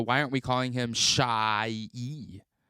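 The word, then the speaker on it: Shai: you look at that it's spelled SH AI that says shy but that's that supposed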